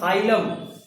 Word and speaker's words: hilum: हाँ, is a notch called ये सब notch, N-O-T-C-H, notch called hilum, H-I-L-U-M, hilum। इसका लेक्चर है YouTube पे। नहीं नहीं नहीं नहीं नहीं हाइलम की स्पेलिंग सर H-I-L-U-M, hilum। हाँ HY LUM हाँ, hilum, through which the ureter,